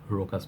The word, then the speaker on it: Rochas: Look at this fragrance, Rochas Man. It's also known as Rochas Man, Rochas Man, Rocha Man. I just call it Rochas Man, I guess. The H, I guess, is silent.